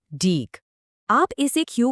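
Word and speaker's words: deque: पर जिसका नाम है डीक। आप इसे क्यू का एक एडवांस्ड या ज्यादा पावरफुल वर्जन समझ सकते हो। डे क्यू जिसको हम डेक की तरह प्रोनाउंस करते हैं।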